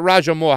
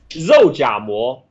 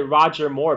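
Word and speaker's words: 肉夹馍: It's not Rajamour. How do you say it? Zoujamour. But a lot of Western expat call it Roger Moore because that's how it kind of how it sounds.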